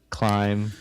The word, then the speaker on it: climb: Climb. Coming column. Climb. Climb. C L I M B. Nobody actually pronounces the B.